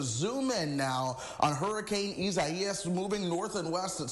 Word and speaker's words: Isaias: A lot of folks want to say Isaias or whatever. It's pronounced Isaias.